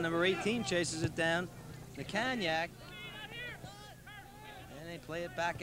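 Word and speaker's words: Natkaniec: He tells me it's pronounced Nakanyak.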